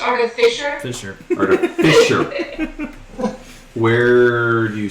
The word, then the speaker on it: artificer: It's pronounced artificer.